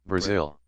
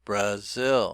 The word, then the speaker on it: Brazil: As in this word here, Brazil, Brazil. Peru, Brazil, Peru, Brazil, Peru. Interesting that the zil is stressed, so the second syllable is stressed.